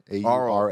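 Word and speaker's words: aural: Oral, thank you. A-U-R-A-L. That's a better way to do it. It's like rural.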